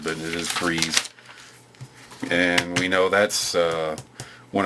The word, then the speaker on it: Freese: I always say Freeze because that's how it's spelled, but it is Freeze.